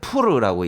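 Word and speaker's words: פור: 페르시아어입니다. 푸르라고 읽어요. 원래는 푸르라고 네.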